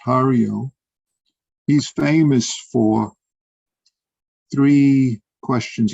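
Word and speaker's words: 巴陵: This, I should say, this Ba Ling, or in Japanese is pronounced Hario.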